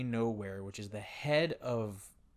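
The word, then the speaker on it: Knowhere: go to nowhere right no way silent K nowhere which is the head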